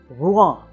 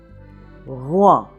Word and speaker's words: Rouen: very good either so see if you can get "r", that little soft "r" in the back of the throat and get to Rouen, Rouen.